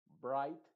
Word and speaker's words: bright: la g por ejemplo No trates de decir en la primera Bright o the la g es totalmente muda y la H también es completamente muda como te decía solamente